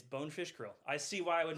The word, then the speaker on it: Bonefish Grill: It's Bonefish Quill. It's Bonefish Grill.